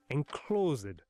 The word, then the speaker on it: enclosed: And rhythm, like those iams my teacher made us drum out in class, those count how many syllables were in, say, enclosed. 2 syllables. Except here it demands 3, enclosed.